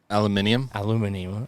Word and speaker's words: aluminum: Aluminium. Aluminum. I can't even say it wrong. Aluminum. We're in America. It's aluminum. I tried. The British say aluminium.